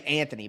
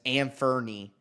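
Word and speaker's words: Anfernee: I want to say Anthony, but it's Anferny. You know what I mean? It's spelled like that.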